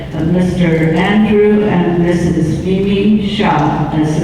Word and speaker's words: Sia: Mimi Shah, as it's pronounced.